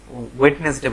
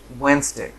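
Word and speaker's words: Wednesday: ওই বললাম প্রথমেই ওয়েডনেসডে বলি, বুধবার, আসলে উচ্চারণ হবে ওয়েন্সডে।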